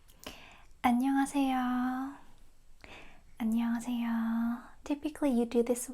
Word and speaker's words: 안녕하세요: It's 5 syllables word. Okay, let's break it down. Just so you know, the first letter an. And this one can be a little bit more complicated. It goes 냥, 냥, 냥.